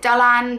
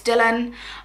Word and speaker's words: Dylan: I think the Welsh pronounce it Dylan, but I would probably steer more towards Dylan. I just think it sounds a bit nicer pronounced like that.